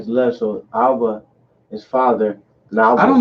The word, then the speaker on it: Abba: Remember, Abba is Father. Abba. Damn. Abba is Father, right? Abba So Nawa. you say our Father, Abba Nawa. Because in Hebrew, so you go right to left. So Abba is Father.